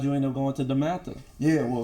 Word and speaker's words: DeMatha: I just wanted to make sure I pronounced it right. DeMatha.